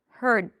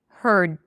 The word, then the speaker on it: heard: So, I block the air immediately, but I still make a little bit of a sound here. Heard, right? As if I'm swallowing something. Heard. That's the difference.